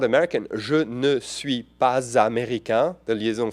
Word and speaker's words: ne: Again, and I tell people who learn with me, yeah, the ne is not pronounced. People skip the ne. So I'm not American. Je ne suis pas américain.